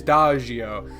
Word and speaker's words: Dagio: Soft G. It is Dagio.